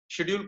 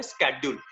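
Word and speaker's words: schedule: ऐसी मैं बोलूं अगर आपसे, शेड्यूल को आजकल थोड़ा सा अलग तरीके से भी प्रोनाउंस करने लग गए हैं लोग, और वो इसको प्रोनाउंस करते हैं स्केड्यूल. थोड़ा अमेरिकन स्टाइल में इसको स्केड्यूल प्रोनाउंस किया जाता है, तो आप भी चाहें तो स्टाइलिस्ट बन सकते हैं, थोड़ा सा आप भी इसको अलग तरीके से प्रोनाउंस कर सकते हैं.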